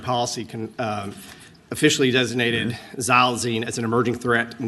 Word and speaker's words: xylazine: impacts oh Pan's here plion is here for xylazine tell us all correctly that's perfect pronunciation yeah or Tran yeah right Tran right